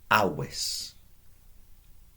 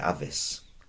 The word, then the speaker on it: avis: I didn't say avis. I said awis. So the V, as the Romans pronounced it, as best as we are informed, was a W sound, a W.